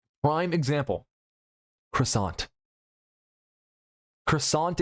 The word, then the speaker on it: croissant: Croissant is the number one example. You have to pronounce it kind of up.